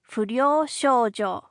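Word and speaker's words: 不良少女: You say it fojo.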